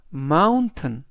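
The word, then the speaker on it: mountain: 뜻이 되겠습니다 이번 단어에서도 역시 t이 들어 있고요 t은 우리말로 튼 그래서 전체적인 발음은 마운튼 마운튼 마운이라고 발음하시면 되겠습니다 품사는 명사 뜻은 산이라는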